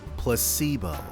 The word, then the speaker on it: placebo: repeat after me placeo the stress is on the middle syllable placebo very good you're fing